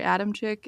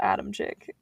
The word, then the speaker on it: Adamczyk: saying that right, because it's spelled Adam, C-I-K, Adam Sick, but every pronunciation I looked up had a ch sound. So I Hmm. could be saying it totally wrong, Adamczyk?